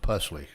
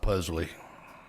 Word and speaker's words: Pusley: next slide Mr Weber my last name is pronounced pusley not puzzly five is where you